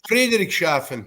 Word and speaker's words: Friedrichshafen: kid from, oh my God, I can't even pronounce this right. Please help me out. Friedrichshafen, is that right? Yeah, Friedrichshafen, West Germany.